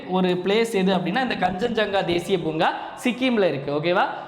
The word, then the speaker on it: கஞ்சன்ஜங்கா: ஸோ கஞ்சன்ஜங்கா, இது pronounce பண்ணுறது கஞ்சன்ஜங்கா.